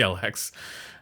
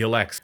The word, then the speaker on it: Elex: would probably pick the lx i said it wrong the elects okay so let me